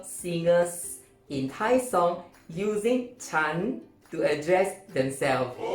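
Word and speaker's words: ฉัน: like a real time chan is normally pronounced with a high tone chan chan not for you men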